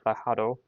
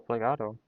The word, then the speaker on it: plegado: En los días siguientes, el chico llegaba con el banco plejado. Um, get that open. Plejado, how do you say plejado? Plejado or plegado? Plegado.